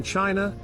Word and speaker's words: Qin: the purple frontier in China the Great Wall was christened the long warm King Zheng of Qin pronounced chin where China's name also